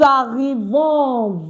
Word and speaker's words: arrivons: John says, nous arrivons. Very good. Nous arrivons, meaning we are arriving. Okay, Prudy has a question. No, Okafor, please, is arrivons with an S. We don't just pronounce the S when we are saying it.